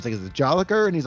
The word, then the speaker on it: Jolicoeur: So it's Mike Tapper and it's Marc Jolicoeur. Oh, a little French. Yeah, Jolicoeur. And he made it like, because at first it's like is it Jolicoeur?